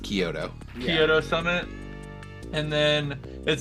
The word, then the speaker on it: Kyoto: Did you ask about the Coyotto Summit? Yep. Definitely is pronounced Kyoto.